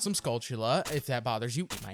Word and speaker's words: Skulltula: And yes, I pronounce them Skulltula.